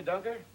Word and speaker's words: Dunker: Did you say Dunker? Mm-hmm. Rhymes with bunker.